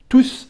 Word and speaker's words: tous: Un instant tous arrivent. Et dans فهنا كنطقوا بعد الاس عضو مع tous arrivent.